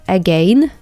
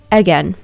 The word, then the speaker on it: again: У этого слова есть два варианта произношения. Это again и again. Либо так, либо так.